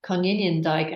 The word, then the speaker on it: Konijnendijk: This is my colleague Amy, is Dutch, so she was very helpful in the pronunciation. He's Professor Cecil Konijnendijk, and Konijnen is Dutch for rabbit, I think, which is similar to the Irish, which is quinine.